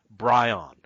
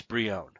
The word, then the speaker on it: Brion: for years since 1985 I have been calling Geo Force Brion and it's Brion so spoiler that's how